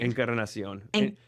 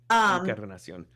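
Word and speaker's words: Encarnación: Encarnacion. Incarnation, basically. Encarnacion. Little Spanish lesson for you. Encarnacion. Encarnacion. You don't have to roll your R because it's not a double R, but yeah, it's good.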